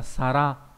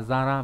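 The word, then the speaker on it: 皿: Chữ này có âm kunyomi là sara. Sara hoặc là zara, ví dụ trong từ osara nghĩa là cái đĩa.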